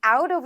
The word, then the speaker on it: out of: 자, 모음과 모음 사이에 T가 들어갔을 경우 혹은 D가 들어갔을 경우에는 리을 소리에 가깝게 만들어 주시면 돼요.